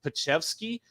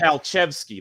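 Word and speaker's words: Palczewski: Palchevsky, that's how you call and talk. That's how you say that.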